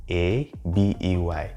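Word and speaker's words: ağabey: So for example, a word like abi is actually written as A yumuşak G, A-B-E-Y, and it is pronounced as abe.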